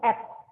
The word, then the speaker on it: ad: juga ab ya kepanjangannya ad bacanya add ya artinya tambahkan add